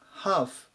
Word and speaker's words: half: なります 751 番ハーフん発音に注意ですねこの l は読んでいません君が半分と